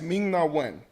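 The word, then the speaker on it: Ming-Na Wen: Um, yes, Ming Nawen.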